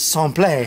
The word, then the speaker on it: Simplet: who in French is named simplet well they pronounce it someplace I mean look at